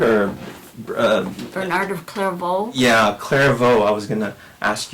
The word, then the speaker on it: Clairvaux: yeah, Clairvaux. I was going to ask you for pronunciation.